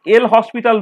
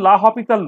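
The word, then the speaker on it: L'Hôpital: আর এইটাকে আর এক রকম করে দেখানো যায়, সেটা হচ্ছে এল হসপিটাল রুল বলে সেটাকে, অ্যাকচুয়ালি লা হসপিটাল রুল, মানে এমনিতে আমি সাদা বাংলায় উচ্চারণ করবো এল হসপিটাল রুল।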